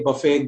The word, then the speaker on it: buffet: So there are certain words that have been borrowed from French that end with et. There again, the t is silent, as in ballet, buffet, gourmet.